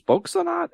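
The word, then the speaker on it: Spöksonat: we have officially found ourselves on the next track, which is Spokesonat. Am I saying that right? I think. Spokesonat. Not. I think so. Would be a long O there with the umlaut.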